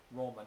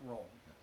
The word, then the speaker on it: Roma: But it's called Verona, is what is the way you're supposed to pronounce it is Roma, not Rome.